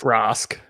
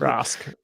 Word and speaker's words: Rask: So just think the easiest way to think of the pronunciation is like a rascal. You don't say rascal, you say rascal.